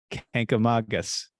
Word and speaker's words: Kancamagus: And here's how they say you should pronounce Kancamagus. Kancamagus, just like I said it the first time.